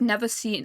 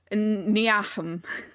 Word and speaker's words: Niamh: I had never heard it spoken out loud. I only read it, which was Niamh, and that was my first time encountering that name. Which you think like phonetically it's Niahum, something like that. But no, it was Neve, and I heard it